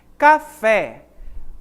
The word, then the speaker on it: café: você pode observar em café onde está a sílaba tônica na palavra na palavra não na sílaba pé a última sílaba então é uma oxítona também certo e perceba